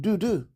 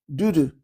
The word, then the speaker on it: Dudu: And they have a word called Dudu. Dudu. It's spelled D-U-D-U, no space.